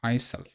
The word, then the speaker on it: Isle: It's not Iceland, it's not island, it's Isle, I guess.